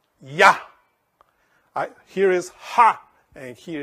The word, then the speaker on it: Yah: Y-A, always. Because the A symbolizes the Trinity. Yah. Here is Ha, and here is Yah.